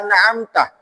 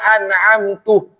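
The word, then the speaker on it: أنعمت: An'amta ihdinas siratal mustaqim siratal ladzina an'amta dibaca fathah seharusnya. Dibaca apa waluyo ihdinas siratal mustaqim. Dibacanya Ihdinas siratal mustaqim siratal ladzina an'amtu.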